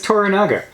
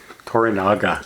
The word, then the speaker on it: Toranaga: hi Mr Sonata plays teranga I Tanga that's toranaga toranaga okay so yeah Tanga is a place anybody